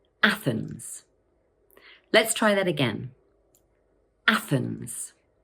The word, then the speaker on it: Athens: This word has two syllables, Athens, and the first one is stressed. Watch out for that tricky th sound.